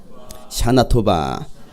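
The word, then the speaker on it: שנה טובה: 샤나토바.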